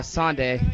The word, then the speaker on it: Sonde: sndi is one of the or do you pronounce it sndi or snde how do you say it uh snde either way though I don't really caree yeah